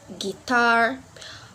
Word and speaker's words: guitar: letter is letter U let you can also be silent to in a word like guitar guilty tongku got guess yep we're not pronounce the letter U in the word right so the less